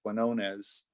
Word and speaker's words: Quinones: And I just wanted to add, if folks haven't, I'm currently finishing reading a book by Sam, I believe I'm pronouncing his last name correctly, Quinones, who wrote Dreamland.